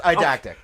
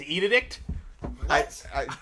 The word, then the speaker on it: eidetic: you pronounce that word? Yes, eidetic. Okay, I always thought it was edict.